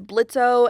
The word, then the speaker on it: Blitzø: O in his name I'm still not 100% convinced the O is silent I mean his dad says blitzo and Blitz himself once